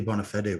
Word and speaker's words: Bonafede: I have Julia Bonafede with me. Is that the correct pronunciation?